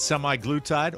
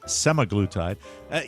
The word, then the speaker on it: semaglutide: Microdosing with semi-glutide or semaglutide. Since I got called out on the pronunciations of some of this stuff.